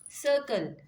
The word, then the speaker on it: circle: as sir and here it is pronouncing as Cur why because here you have I that's why you're pronouncing as